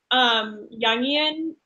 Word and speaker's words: Jungian: know what that is junkie in psychology I I think well it's pronounced Jungian okay it's Carl Jung so young don't have to yeah